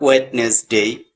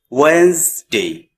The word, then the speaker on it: Wednesday: just say Tuesday Tuesday Wednesday Wednesday day not wetness day just we say Wednesday Wednesday in this word D or D completely